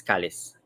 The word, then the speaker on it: Kalis: So Chris in Kapampangan is Kalis. So Kalis. That's what we call Chris in Kapampangan.